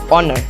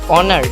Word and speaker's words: honor: The first letter of the word honor, for example, is a consonant, but it is unpronounced. In spite of its spelling, the word honor begins with a vowel sound.